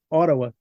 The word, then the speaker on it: Ottawa: né otal ota o os canadenses porém eles não pronunciam o t de certas palavras fica meio que um D meio mastigado meio dentro da boca assim né oraa o TTA wa oraa você vai saber se